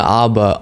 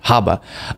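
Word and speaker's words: Habba: clip of her Aaron Alina Abba on or Haba somebody said please pronounce the h Haba um on Newsmax giving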